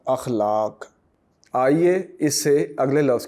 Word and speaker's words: اخلاق: الف پر زبر ہے، خے پر آپ جزم کا نشان دیں گے یعنی خے ساکن ہے، لام پر زبر ہے، الف پھر ساکن ہے اور کاف بھی ساکن ہے۔ اس طرح اس لفظ کا تلفظ بن جائے گا اخلاق۔ آئیے اس سے اگلے